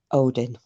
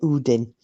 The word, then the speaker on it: Odin: come out and help Odin or Udin I'm going to say it properly and yeah the the